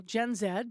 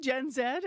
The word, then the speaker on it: Gen Z: our uh generation well Gen Zed, but if you're going to call me and say it's not pronounced that way, uh sorry, but I'm going with the Canadian pronunciation. Gen Z. Gen Zed.